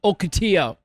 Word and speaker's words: Ocotillo: We're excited to be here at Sea and Smoke in downtown Ocotillo. We learned that that's the proper way to say that.